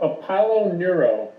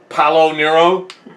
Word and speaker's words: Apollo Neuro: Palo Nero? Apollo, like the god. Oh, yeah. Careful, you don't switch. Apollo Nero?